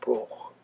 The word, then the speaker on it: Broagh: there in the poem about the way Broch is spelt, which is Broagh. For those of us here, I suppose in Ireland, it's relatively easy for us to pronounce it, but for other people, just looking at how it's spelt, you wouldn't automatically pronounce it.